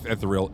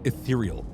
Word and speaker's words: ethereal: etheral isn't it obvious wait not etheral ethereal I don't know why